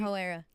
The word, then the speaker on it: Hoe Era: I can't say, but it starts with an H and it rhymes with Pro Era. Yeah. All right. Instead of Pro Era, he put Yes. All right. So listen. Garden Hoe Era.